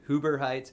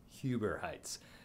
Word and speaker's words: Huber Heights: moved to this area i would say in hoover heights it's huber heights so yes now you